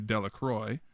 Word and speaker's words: Delacroix: jones and dickie delaqua the villagers pronounced his name delacroix eventually made a great